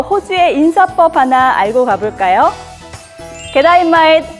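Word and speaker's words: G'day: 게다이 마잇, how you going? 마치 게다이라고 들리시죠? 굿데이라는 뜻인데요. 발음만 들으면 마치 게다이 같죠?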